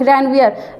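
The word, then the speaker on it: Ranvier: Node of रनवियर। रनवीर मत सोचिएगा। क्या लिखा है? रेनवीयर।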